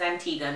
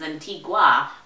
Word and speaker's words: Antigua: a tiny Caribbean island known as Antigua not to be mispronounced as Antigua we do not like that if you ever were